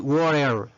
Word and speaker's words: water: Cuando encontramos esta T, miren esta T, rodeado por dos vocales, en este caso A y E, U, O y E, ¿verdad? Podemos usar la R en este caso de inglés, la R, ¿verdad? Y podemos decir water, water, ¿verdad?